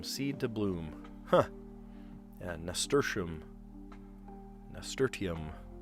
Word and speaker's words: nasturtium: Yeah, nasturtium. Nasturtium. I've heard people mispronounce it and they say nasturtium. It's not nasturtium.